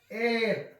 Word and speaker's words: heir: man, an honorable, an heir, ಈಗಾಗಲೇ ನೋಡ್ಕೊಂಡಿದ್ದೇವೆ. an heir, an honest man, an honorable, an heir. ಸೊ ಇಲ್ಲಿ ನೋಡ್ಕೊಳ್ರಿ, ಈ ಎಲ್ಲಾ ಶಬ್ದಗಳಲ್ಲಿ in all these following words h is silent letter, h is silent letter,